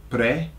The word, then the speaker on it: prefiero: It's pre-fi-ero, prefiero. So what you have to remember is that it's got an ero on the end, okay, for those who know ero chocolate, right? Prefiero.